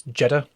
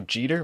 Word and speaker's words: Jeter: Michael you're saying it wrong it's it's Jetta that was the pronunciation of one of the videos that we watched for this English people apparently had never watched baseball over here yeah seriously Derek Jetta I don't know Jeter what